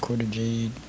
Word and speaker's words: Cora Jade: The quarter jade is how you say her name.